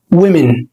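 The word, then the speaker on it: women: كده وهو الكلمه دي الكلمه دي نطقها ومن مش ومن ولا اي حاجه ومن بس كده سيبلي الفيديو بقى عشان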